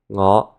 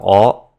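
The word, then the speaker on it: 我: Another sound shift that happens is that words that start with an "ng" sound will drop that sound, so that it starts with a vowel instead. So, for example, this is the word for me. Ngoh. Sometimes this could be dropped and become oh.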